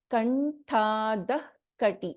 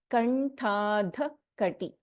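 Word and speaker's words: कण्ठाधःकटि: So here the pronunciation will be Kanthadakati. So we won't chant the complete Visarga here. Kanthadakati. So we immediately take a after the half Visarga.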